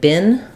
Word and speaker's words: been: e in American English we say this word bin the same as a garbage bin um in British English